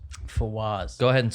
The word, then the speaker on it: Fawaz: Fawaz. Fawaz. Go ahead and spell it.